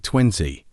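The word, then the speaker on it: twenty: it completes the pronunciation we stress the first syllable it sounds like 20 you could feel the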